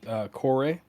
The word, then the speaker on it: Corée: I'd like to point out that he pronounced it Corée. Mm-hmm. I call it the Corey. I don't know what you're talking about. It's the Corey. It's the Reliant Corey. CIG officially calls it the Corée. Yes. Hyphen on emphasis on the end.